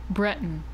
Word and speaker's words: Breton: okay um oh urinal it's pronounced Breton okay Breton that makes sense okay thank you okay